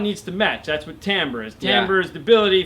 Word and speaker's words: timbre: I called it timber. It's actually pronounced timbre.